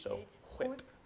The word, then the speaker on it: whip: But like some people pronounce the H, so whip.